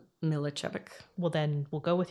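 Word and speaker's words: Miličević: And then the third girl in the bar, I believe it's, I'm gonna try this, Ivana Milicevic. No, it's I would say it's Milicevic.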